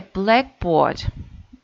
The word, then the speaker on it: blackboard: So we write on it, and so in this case we should pronounce a blackboard. The first syllable is stressed.